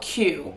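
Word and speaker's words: Kyu: dinner at a restaurant called I think it's called q but it's spelled k-y-u and I've never been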